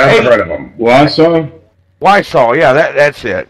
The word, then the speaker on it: Wiseau: Wiseau, yeah, that's it. Wiseau.